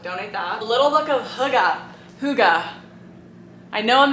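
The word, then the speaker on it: hygge: many pronunciation videos but it's a Danish word I can't make the noise necessary to pronounce this correctly but I guess the American pronunciation is hoga um this saves me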